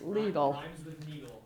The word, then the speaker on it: Lidl: four seconds behind us have heard it pronounced a lot of different ways and I want to know the correct way to play current pronounce this Lidl Lydell what is it it's legal so thank you any other